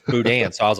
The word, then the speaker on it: boudin: Like, that's how to pronounce Boudin.